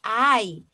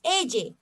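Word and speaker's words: eye: muy bien ojo miren aquí se escribe ella pero se pronuncia hay ok no me vayan a decir me cogen ingleses ella no es ay ok además a continuar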